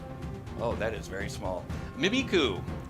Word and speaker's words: Mimikyu: Mimiku, I think I pronounced that right. Mimikyu. Mimikyu. Like I thank you.